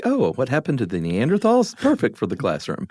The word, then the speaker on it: Neanderthal: So Neanderthals, the correct pronunciation is tall, by the way.